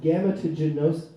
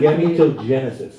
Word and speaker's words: gametogenesis: There's a recent development in a technology referred to as IVG, or in vitro gametogenesis. I actually listened to a YouTube video that pronounced this word. Gametogenesis.